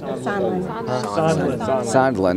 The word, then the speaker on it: Sondland: Sondland.